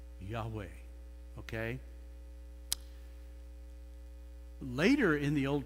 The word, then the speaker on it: Yahweh: h those four capital letters that's the name pronounced Yahweh okay later in the Old Testament it will